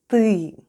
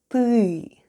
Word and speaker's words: ТЫ: Let's have a look at the spelling of the word ТЫ /têê/, which... is Russian for "you": first we have Т /t/... and then goes Ы /êê/; and all together it's... ТЫ /têê/.